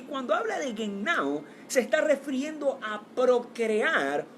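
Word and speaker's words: γεννάω: y ese término griego es genao. Repito, genao, G-E-N-N-A-O. Literalmente así se escribe. Y cuando habla de genao, se está refiriendo a procrear, o en otros términos, a regenerar.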